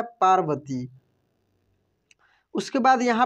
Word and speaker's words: पार्वती: एक बार कैलाशवासी शिव माता पार्वती, इसको पढ़ेंगे हम लोग पार्वती, पा के बाद रेफ की मात्रा लगा है व के ऊपर, तो र का उच्चारण होगा।